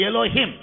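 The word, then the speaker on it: אלוהים: Hebrew भाषा में उस शब्द का उच्चारण एलोहिम होता है।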